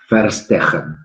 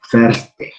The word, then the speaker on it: verstehen: La B corta en alemán se pronuncia F, generalmente, la H como J, entonces la pronunciación sería verstehen.